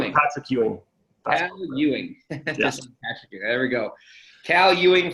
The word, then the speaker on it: Ewing: name in full you a how hot secure Ewing there we go Cal Ewing from Calgary see